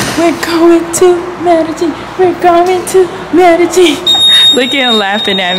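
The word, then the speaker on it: Medellín: Medellin ready? Am I pronouncing it right, Alanis? Oh, good.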